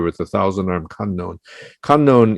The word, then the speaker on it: Kannon: the thousand armed unknown kannon is the japanese pronunciation for avalokiteshvara bodhisattva and many of the